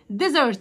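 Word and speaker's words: desert: توم ديزرت صحراء، والاس هنا بنطقها بصوت حرف الزد.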